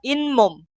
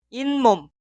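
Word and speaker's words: 잇몸: Y se pronuncia 인몸, 인몸. la palabra anterior suena con la consonante final ni은 y la palabra posterior inicia con mium. Escribir y pronunciar imom son incorrectos.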